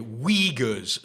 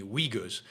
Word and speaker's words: Uyghurs: you for correcting me uyghurs uh so so it's not oogas it's uyghurs you don't pronounce the u i guess u y g h